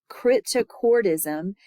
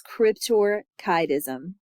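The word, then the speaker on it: cryptorchidism: um small male children crypto cism is the most Cryptor kism I'm sorry it's it's very easy to mispronounce that word but it's Cryptor kism the most common risk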